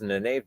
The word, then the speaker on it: Nynaeve: Or something Nynaeve should have done.